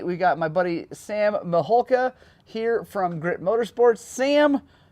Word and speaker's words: Mihulka: it's it's uh well it's actually just like it's spelled it is but people usually add L's and K yeah right it's like